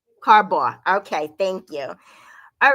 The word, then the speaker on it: Carbaugh: how do you say your last name correctly carbaugh carbaugh okay thank you all right so he h